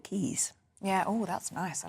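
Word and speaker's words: Caius: you would say this it's either K or Keys it's the Roman name meaning to Rejoice so it's spelled c a i u s and I guess it's up to you how you say it but I think in um in sort of classical terms you'd call it Keys yeah oh that's nice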